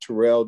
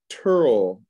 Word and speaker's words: Terrell: My father, who I was named after, pronounces it Turl II. So we argued about that over and over again. So I named my son Terrell after my pronunciation.